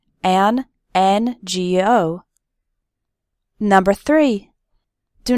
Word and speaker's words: NGO: then we say an ngo why because the letter n starts with the vowel sound e and n g o number three do not